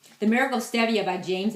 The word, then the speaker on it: stevia: What they use is something called stevia. People pronounce it stevia, but it's actually stevia.